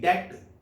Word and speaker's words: debt: जैसे DEBT, डेट, कर्ज को कहते हैं, इसे डेप्ट नहीं पढ़ना।